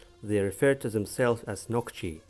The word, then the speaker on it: Нохчий: refer to themselves as knock she pronounced knock G singular knocky knocky or